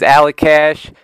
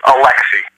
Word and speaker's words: Alecxih: It's It's pronounced Alexi.